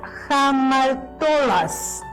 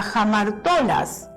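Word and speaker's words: ἁμαρτωλός: Se escribe así en griego y se pronuncia jamartobas.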